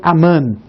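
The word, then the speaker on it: אמן: a esta palavra hebraic que se pronuncia aman você vai saber que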